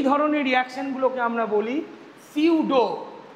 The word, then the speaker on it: pseudo: এই ধরনের রিয়াকশন গুলোকে আমরা বলি সিউডো পি এসই ইউডিও সিউডো first order reaction. এটাকে আমরা বলি সিউডো ফাস্ট অর্ডার রিয়াকশন। যেখানে পিটা তোমার সাইলেন্ট থাকে।